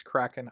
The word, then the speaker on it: Kraken: I literally just stop and go, all right, it's Kraken. I'm calling it Kraken for the podcast. I'm not gonna mispronounce Mr.